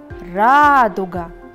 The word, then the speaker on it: радуга: Например, радуга. Ударение падает на первый слог.